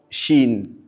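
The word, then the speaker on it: شين: Puis nous avons shin. Chin chin. La lettre chin se distingue par la propagation de l'air à travers tout espace que qui est possible.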